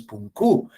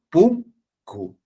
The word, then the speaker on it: punku: La mayor fuerza de voz está en la primera sílaba. Pum cu. No es puncú, es punku, ¿no?